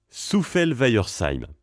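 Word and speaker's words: Souffelweyersheim: c'est compliqué à prononcer Souffalweyersheim. Non, ça va. Ça va pour vous et pas pour les autres, si jamais un tuto, regardez. On commence par Souffel. Ensuite Weyer. Et enfin Seim. Souffel-Weyersheim.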